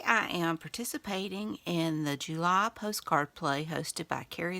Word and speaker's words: Gely: And check out the hashtag GelyPostcardPlay in the, July Postcard Play. And it's spelled Jely, which is why I keep saying jelly. But it's July Postcard Play.